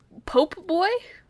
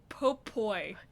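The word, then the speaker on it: Popoi: Pope Boy? Popoy. Popoy, okay. I'm sorry, you Popoy. didn't pronounce that well enough.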